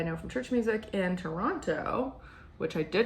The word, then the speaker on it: Toronto: from church music in Toronto, which I did not just say like a local just so everyone would notice talking about that city is actually pronounced Tronna with no T's if you're a local.